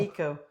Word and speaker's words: ecobee: Eco. Eco. Echo is spelled E-C-H-O. Oh. Echo is E-C-O. Okay. It's I mean eco. Wait, yeah, I'm Eco. correcting you. Eco is Eco. E-C-O. Okay. Eco. Echo is E-C-H-O.